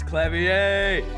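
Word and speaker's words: Klavier: again uh Machi toai our suspect fortisimo it's clavier I know that you said K wrong the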